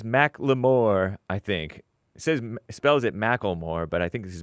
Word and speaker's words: McLemore: McLemore. Pronounced Macklemore.